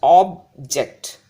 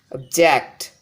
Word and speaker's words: object: should be pronounced as object object object object if I give more emphasis on the second syllable that is checked object object the meaning changes this object is a